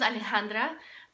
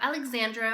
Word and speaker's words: Alejandra: Nobody can ever really pronounce my name. My name is Alejandra, but for some reason people will say Alejandra, Alexandra, Alexandria, Alejandro. I get Alejandro a lot, and I don't understand why, because there's an A at the end, but people somehow pronounce it as Alejandro.